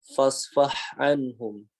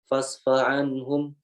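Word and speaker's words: فاصفح عنهم: Kadang ya ketika kita membaca huruf H yang di depannya ini terdapat huruf Ain, ya kita bunyinya tidak jelas. Fasfa'anhum, fasfa'anhum, fasfa'anhum. Kedua makhraj dari dua huruf tersebut. Ya, karena berdekatannya dua makhraj ini. Gitu. Jadi harusnya fasfah anhum, fasfah anhum. Gitu.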